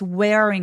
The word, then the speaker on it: wearing: W가 있을 때에는 입술 쭉 내밀어 주시고요. 시동을 걸어 주셔야 돼요. 그냥 wearing 아니고 wearing wearing이라고 과하게 발음합니다. 할 때 r로 시작하는 음절 링보다는 링이라고 하면은 l로 발음이 들리거든요. 그래서 weing 하면서 혀끝이 입천장에 닿지 않도록 하는게 포인트예요. 혀를 말지 않습니다.